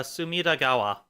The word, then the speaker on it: Sumidagawa: pretty yeah sum River uh sumidagawa is how that's pronounced so that was really